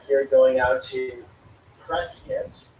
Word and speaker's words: Prescott: Skull Valley was important because of this line right here going out to Prescott, as the locals say it, Prescott, if you're from out of town, and then off to Phoenix, I believe.